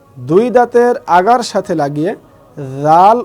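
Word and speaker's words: ر: দাঁতের আগার সাথে লাগিয়ে রাল উচ্চারণ হবে। তাহলে রাল, রাল, ঠিক এভাবে। তারপরে হরফ হচ্ছে র, র। এখানে আমি লিখেছি বাংলায় বয় শূন্য র, ঠিক এই রয়ের মতো উচ্চারণ হবে।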